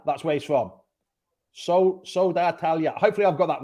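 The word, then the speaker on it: Södertälje: In Pidgin English, it's Phil from Sweden has said it's Sodartalja. Sodartalja. That's where he's from. Sodartalja.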